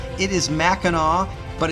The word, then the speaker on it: Mackinac: out uh the way it's pronounced it is Mackinaw but it's spelled two different ways and on the island